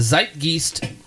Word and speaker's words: Zeitgeist: a 1995 interview it sort of captured the Zeitgeist of the time I'm probably pronouncing that way wrong is zeitgeist there we